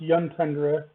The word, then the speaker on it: Juntundra: Juntundra, or actually it would be pronounced Yuntundra because it's Scandinavian, but Yuntundra is the closest city to refresh stuff, and they haven't done anything to me.